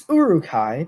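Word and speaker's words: Uruk-hai: orcs with to create Eric I I'm actually not completely disappointed by your pronunciation it's aruch i but you're real close real close that's a tough one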